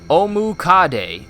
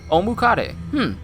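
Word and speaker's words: Ōmukade: Pronounced Omukade. Omukade. Literally 100 legs in Japanese.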